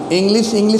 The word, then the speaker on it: English: मान लीजिए इंग्लिश है, ये आप ध्यान से सुनिए, इंग्लिश नहीं होता है, इंग्लिश। इसका प्रोनाउंसिएशन हमेशा आप याद रखें कि इंग्लिश होता है, श।